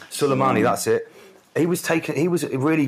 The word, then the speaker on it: Soleimani: I know I'm pronouncing that wrong. Soleimani, that's it.